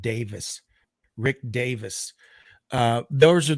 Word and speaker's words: Davies: hodgson and rick it's it's spelled davies but i think he actually pronounces it davis rick davis uh those